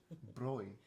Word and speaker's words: Bräu: So you would say if it doesn't have an umlaut, then you would say Brau, okay, like brew. right? But Bräu again, that's again a noun thing.